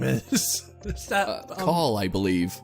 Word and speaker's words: Call: Is that Call, I believe. Call? Yeah. Call. The subtitle says Call. Yeah, but everyone pronounces it like Cole.